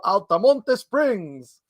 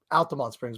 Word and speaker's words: Altamonte: the collective in beautiful altamonte springs that's the spanish way pronouncing it by the way it's altamonte springs but it sounds so